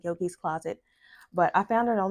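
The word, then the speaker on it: Yoogi's Closet: I think that's how it's pronounced, Yugi's Closet and not Yogi's Closet.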